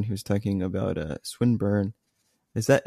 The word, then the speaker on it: Swinburne: was talking about a swinburne is that am I pronouncing that correctly swinburne yeah okay it's like okay I